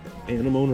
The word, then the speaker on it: anemone: Is that what's called an anemone or anemone? I don't know how to. How do you pronounce it?